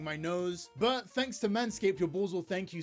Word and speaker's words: Manscaped: Oh, it's just pronounced Manscaped?